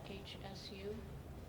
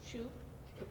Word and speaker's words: Hsu: Add to the consent agenda item 4.48, communication, Mimi, how do you say that? HSU? No. Shu? Okay, thank you.